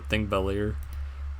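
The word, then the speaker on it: Þingvellir: this character right here the P looking character it's pronounced th in Icelandic so think bellier um whenever I see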